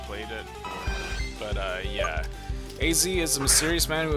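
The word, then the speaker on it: Z-A: His name is pronounced as the two letter letters separately. A Z as we got another Eevee.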